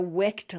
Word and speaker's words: wicked: You can put the ed suffix on wick and talk about a wicked candle or a wicked lamp, but in those cases, the word has just one syllable, as you'd expect.